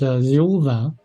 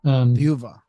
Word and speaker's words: Thiaoooba: Oh, so it's more of like a V sound, not a B sound. Yes, Thiaoooba. Okay. Thiaoooba, yes. Okay. Like Jehovah.